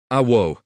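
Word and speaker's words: aoo': Yes is awu. It's pronounced awo, with a little glottal stop at the end.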